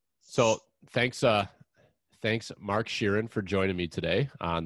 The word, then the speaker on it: Scheeren: how you say it shira sheeran all right just like ed sheeran i was just gonna